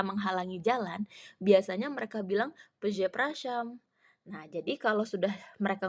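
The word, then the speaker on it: przepraszam: punya digraf RZ berarti r-nya hilang enggak dibaca dan SZ yang dibaca jadi se jadi cara bacanya peze praam peze prasam artinya maaf atau Permisi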